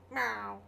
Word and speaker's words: Mao: You have to say it as Mao. I don't think that's how it's pronounced, but no, but that's how I pronounce it every time I see it.